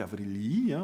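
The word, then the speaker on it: Αὐρήλιοι: C'est pour ça qu'on va avoir, à partir de Marc Aurèle, des aurelii, donc des aurelioi en grec, avrelii, plutôt si on le prononce comme il faut, et puis d'autres noms, les Domitiani aussi, qui n'ont rien à voir avec Domitien.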